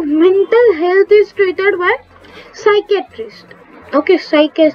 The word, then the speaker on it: psychiatrist: health is created by psychiatrist okay psychic stress spelling you can see here on the side psychet we not call it a skytress the p is silent in the psychiatrist towards okay so the